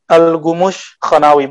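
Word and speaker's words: الكمشخانوي: Al-Khumushkha tulisannya ke kaf, tapi bacanya Al-Khumushkhanawi, bahasa Turki, Persia Turki, campur Persia Turki.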